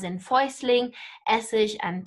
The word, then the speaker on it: Essig: ich i-g and again-ish note the exact same pronunciation there even though the spelling's different as in foisling essege and tepes right and